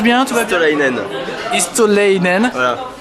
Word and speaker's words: Istolaïnen: Istolainen. Istolainen. Voilà, comme avec un tréma sur le i.